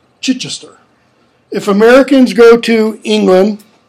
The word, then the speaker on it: Chichester: Or Chirinchester. Chichester.